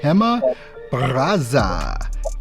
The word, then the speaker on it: Gema Barraza: completely messed it up but today we have hema brazza in the house with us today how are